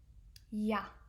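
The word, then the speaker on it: ja: Yah.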